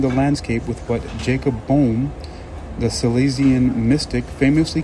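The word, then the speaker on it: Böhme: Boehm, let me see, how do you pronounce that name? Jacob Boehme? Well, just kidding. We'll say uh Boehm. I'm going to pronounce pronounce it Boehm, spelled b o e h m e. We'll pronounce it Boehm for now.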